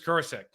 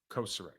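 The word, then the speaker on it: Kocher: in the business Chris kek or I say his name wrong every time koser it's koser he is I I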